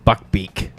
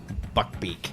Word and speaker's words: Buckbeak: Yeah, Buckbeak. It's Buckbeak.